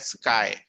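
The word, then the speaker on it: χ: अच्छा, इलेक्ट्रोनेगेटिविटी का जो सिंबल होता है बेटा, ये होता है प्रोनाउंस्ड एज स्काई.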